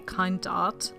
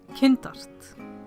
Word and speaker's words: KindArt: You notice that I don't use the English pronunciation KindArt, but the German/Icelandic pronunciation KindArt.